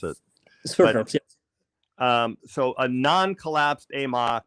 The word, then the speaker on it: Sverdrups: I don't know how to pronounce it. Sverdrups, yes.